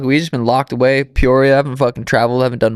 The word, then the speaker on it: Peoria: We're at the Red Hawk Academy in, Pierre? How do you say it? Peoria, West Arizona.